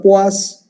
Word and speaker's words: poise: Se pronuncia poise y se escribe poise.